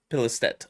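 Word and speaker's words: Pilestedt: Arrowhead Game Studios CEO Johan Pilistet. Pilistet. Okay, so I said it right the second time.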